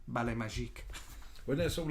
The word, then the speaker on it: Ballet Magique: Debbie Daniels has a ballet company at the time called Ballet Magic, but it's always pronounced Ballet Magique.